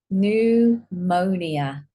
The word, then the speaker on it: pneumonia: And here, pneumonia. We don't say pneumonia.